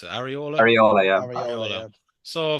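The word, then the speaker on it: Iraola: How do you pronounce it? Areola, Yeah.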